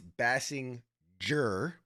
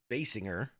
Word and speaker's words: Bassinger: I wanted to stress it's Bassinger versus Bassinger, which is like Kim Basinger, even though it's spelled the same way.